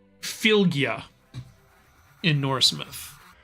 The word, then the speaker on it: Fylgja: It's called Fylgja in Norse myth.